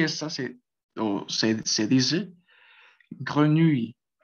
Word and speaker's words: grenouille: Y esta se dice grenouille, grenouille, grenouille. Entonces, esa E va a sonar un poquito, como les comentaba, cerrada, como decir cuando ustedes